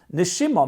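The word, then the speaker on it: נשימה: They're just pronounced differently. Neshama is soul. Neshima means breath.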